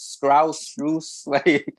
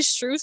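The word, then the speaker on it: Strus: a year like jeez nobody told you that it's strauss let's get him on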